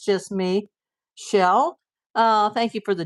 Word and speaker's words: Chelle: But some people pronounce Shell like Michelle. So is it like Michelle or is it like Shell?